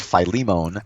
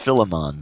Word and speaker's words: Philemon: out is from Philemon I never really knew how to pronounce the name of that book I always do always I used to always call it Philemon I used to say and then I went to Google you know there's a thing how do you pretty I think they said it's pronounced Philemon Philemon I'm I like Philemon better and to me sounds cooler and in his letter to